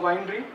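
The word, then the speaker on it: weinre: uh Winery so it's it's actually pronounced that pronounced as Winery so it it stands for web inspector remote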